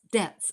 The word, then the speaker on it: debts: And I'll spell that because it almost sounded like death, because eighth house can be, but it was DEB, like boy, TS, debts.